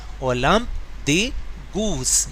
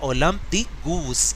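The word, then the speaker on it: Olympe de Gouges: वन ऑफ द most important revolutionary figure among them was ओलम्प द गूस। ये क्या लिखा है? ओलम्प द गूस। इसकी pronunciation अच्छे से याद करें क्योंकि ये फ्रेंच नेम है।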